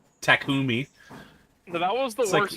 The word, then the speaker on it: Takumi: main character Taki's name they just called him Tac they pronounced his name wrong takumi that was the worst